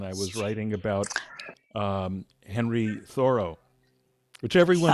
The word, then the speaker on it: Thoreau: was writing about Henry Thoreau, which everyone Ah, mispronounces Thoreau, but it's the actually road. Thoreau, in case you care.